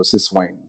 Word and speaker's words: Syswine: So I know many people basically do this mispronunciation, but it's systems and wine. So Syswine.